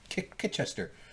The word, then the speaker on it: Chichester: desk to deal with Chichester or Kitchester. Kitchester. They kind of pronounce it Kitchester.